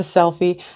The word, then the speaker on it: Selphy: I think it's called a Selphy. I think that's how you pronounce it. Selphy. It's a Selphy.